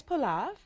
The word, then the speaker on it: pilaf: And the next two dishes, say them again because you pronounce them much better than me. So we're making a brown rice pilaf.